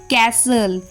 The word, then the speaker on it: castle: Now T is often silent in words ending in STEN or often T is silent before L.